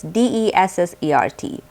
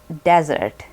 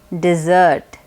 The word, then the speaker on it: dessert: very commonly mispronounced as desert but please remember that it is correctly pronounced as dessert dessert the emphasis is on the second syllable dessert here are a